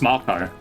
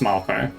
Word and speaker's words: Mako: guys see um that they announced the it's pronounced Marco? Yeah, Marco March. They literally said it in the thing. Did I say Mako? If I said Mako, do you kill me? But it's it's definitely pronounced Marco.